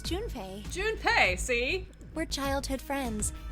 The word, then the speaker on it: Junpei: I just call him Jumpy. His name is Junpei.